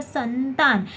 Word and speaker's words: संतान: जैसा मैंने अभी बोला संतान, तो संतान में न का उच्चारण हो रहा है, ठीक है।